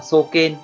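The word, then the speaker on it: 壮健: Cách đọc của nó là soken, soken.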